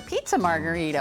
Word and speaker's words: margherita: This combines to help make a margherita pizza, or pizza margherita.